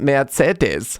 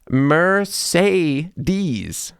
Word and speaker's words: Mercedes: I moved here was that Americans say Mercedes with three different sounds of e. I never thought about that before. Mercedes.